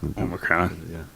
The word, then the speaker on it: Omicron: I wasn't sure how you say it, but when I heard other people say it, it was Omicron.